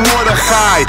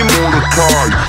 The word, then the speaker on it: Mordechai: And boy, you oughta know if you see me pronounce my name Mordechai. Because I hate it when people call me Mordechai. You gotta say my name like something's in your throat.